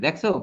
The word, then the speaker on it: দুঃখ: ওইযে দুঃখ দেখো খ দুইবার হয়নি।